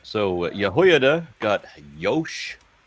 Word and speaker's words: Jehoiada: Jehoiada. Jehoiada. Yes. Okay. As long as just like Jehoiada the J, at the beginning of words comes from words that began with a y sound.